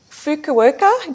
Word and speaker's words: Fukuoka: Hey, you first came to international attention, I believe, in 1981 when you won the Fukuoka. Did I pronounce that right?